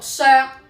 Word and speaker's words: 爍: 個讀音，粵語讀削，閃削唔係閃礫。